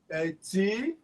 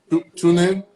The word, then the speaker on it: Tunen: Okay, so how do you spell that language? What's the spelling? T-U-N-E-N. Oh. That's the correct form. Okay. That's the correct form. Tunen?